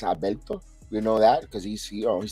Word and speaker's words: Alberto: So Albert Abreu, Albert, but really in Spanish it's Alberto.